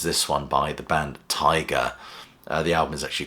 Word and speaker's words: Teiger: And the first album is this one by the band Tiger. The album is actually called Tiger as well. It's spelled T-E-I-G-E-R, but I presume it's pronounced like the, bitey, stripy thing.